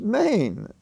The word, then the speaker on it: mein: it and what's the pronunciation of m-e-i-n in the phrase chow mein is Maine long a m e